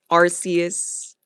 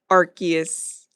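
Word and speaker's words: Arceus: Arus, Archus. I know you could say it both ways because they did change the pronunciation.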